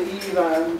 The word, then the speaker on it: Ifan: And those of you who are already in my MKT 402 class will know it's pronounced like two women's names, Eve and Anne. Just say Ivan, just gently and quietly running one into the other, and you got it spot on.